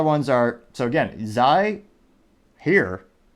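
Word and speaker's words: hir: Now the other ones are, so again, Zai, here, spelled H-I-R, but it's pronounced H-E-R-E.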